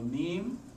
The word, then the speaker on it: meme: the concept of a meme. It was page 198, by the way. Right? Everyone talks about memes. How do you say it? M-E-M-E? So it should rhyme with gene. Meme and gene, right?